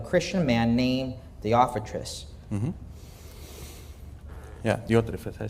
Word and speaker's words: Diotrephes: Por ahora quiero que veamos lo que el apóstol nos habla de otro personaje llamado Diótrefes en los versículos 9 al 11.